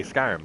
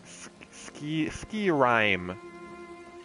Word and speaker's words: Skyrim: because in the game, they say Skyrim like a fuck ton. It's not ski rhyme or whatever, but it's like, damn,